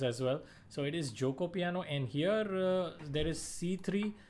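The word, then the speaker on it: Giuoco Piano: This is the Joko piano. Yes, please, you guys have to pronounce this opening properly. There are a lot of people who are pronouncing it as Geico piano, including some coaches as well and high profile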